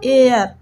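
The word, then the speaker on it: heir: इसको हेयर नहीं पढ़ते हैं, इसको क्या पढ़ते हैं, प्रोनाउंसिएशन एयर।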